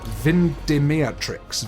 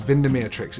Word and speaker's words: Vindemiatrix: to jump to the one that I tried pronouncing before called vind dematrix vindemiatrix it's got lots of other different names but